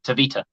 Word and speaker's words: Tavita: so it's like because his first name isn't actually Vita it's tavita it's tavita which is what this other